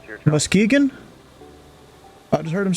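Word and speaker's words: Muskegon: out as Weller 1893 you like to say musky gone but it's pronounced mus oh wait was that it Muskegan I just heard him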